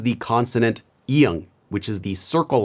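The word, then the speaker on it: 이응: Now, this letter is normally silent at the start of a syllable, but when it's at the end of a syllable, it's pronounced as ng, kind of like in the word song in English, like ng.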